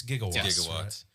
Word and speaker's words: gigawatts: watch is mispronounced correct it is it's gigawatts this is before that